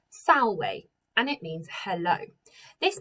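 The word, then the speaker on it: salve: about too much but the letter v in latin is pronounced as a w so this word is pronounced sallway and it means hello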